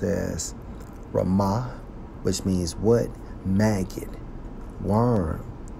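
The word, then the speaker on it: רִמָּה: to the hebrew strong's h 74 and 15 pronounced as rama which means what maggot worm now from a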